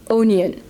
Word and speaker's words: oignon: Actually, did you see that the word onion in France is written O-I-G-N-O-N, and you pronounce it onion.